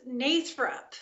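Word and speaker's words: Nathrop: The town is pronounced Nathrup. It was founded by Charles Nachtrieb, who, when the early settlers were coming in, could not pronounce Nachtrieb, so they Americanized the name to Nathrup.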